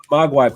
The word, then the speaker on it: Mogwai: So I'm going to put Seventh Night is published by Mogwai. Is that how you say it? Mogwai? Mogwai, but they're going to be at the Big Cat Games booth too.